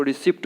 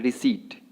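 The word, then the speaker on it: receipt: इसके बाद है रिसीट। रिसीट को रिसिप्ट बोल देते हैं, यहाँ पे पी साइलेंट है, ठीक है। तो क्या बोलना है? रिसीट।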